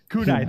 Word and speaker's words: kunai: not that they're uh they're how do you pronounce the word kunai kunai thank you and it looks like there's a